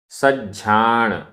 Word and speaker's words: सज्झाण: सज्जाय, आधा ज झ, सज्झाय, सज्झाण, आधा ज झ, सज्झाण, रयस्स, आधा सा पूरा